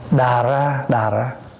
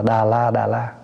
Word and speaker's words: đà ra: Đà ra, có khi đọc là đà ra, có khi đọc là đà la.